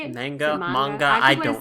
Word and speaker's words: manga: Manga? Manga? I keep don't say know. manja. I'm an English speaker. I keep going to say manja because it's like Italian. That's wrong.